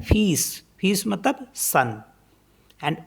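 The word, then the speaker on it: fils: pronounce करते हैं जैसे एफ आई एल एस तो इसमें एल साइलेंट होता है इसको पढ़ते हैं फीस फीस मतलब सन एंड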